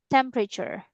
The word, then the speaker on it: temperature: But we pronounce it temperature. Temperature. Temperature. Temperature. Yeah. Temperature. Just three syllables.